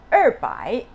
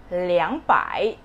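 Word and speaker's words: 两百: and ten thousands okay instead of er the number two you're going to replace it as liang liang so when you say 200 it's not anymore urbai it's liangpai and when you are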